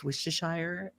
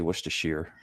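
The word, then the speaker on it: Worcestershire: Can you pronounce Wistachire? It trips a lot of people up. Everybody pronounces it different. Wishesire or Wisheshshire. Wishistershire. I say wisher.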